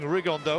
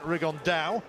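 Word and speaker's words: Rigondeaux: tate's talked about fighting rigondo or as he's correctly pronounced with the uh spanish accent rig on dao and two absolute geniuses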